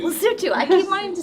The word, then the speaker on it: Lesotho: Lesotho. Lesotho. I keep wanting to say Lesotho. Anyway, it's spelled Lesotho, right?